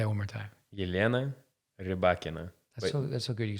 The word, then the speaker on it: Elena Rybakina: How do you pronounce Rybakina's name? That was very good, yeah. Yelena Rybakina. Say that one more time. Yelena Rybakina. That's so good you can say it a third time. Yelena Rybakina.